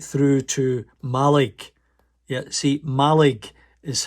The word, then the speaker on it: Mallaig: Yeah, see, Mallaig is how the locals pronounce it.